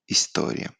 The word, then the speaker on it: istorie: Italia, iscusit, indiferent, icre, istorie. Yeah, so we don't pronounce history, but we say istorie, icre.